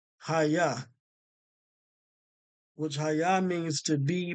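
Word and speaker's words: היה: They actually have this pronounced right. Hayah.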